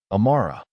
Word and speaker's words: Amara: He asked her name once, repeated it carefully, Amara, with the slight emphasis on the second syllable that made it sound more musical than it did in her own mouth.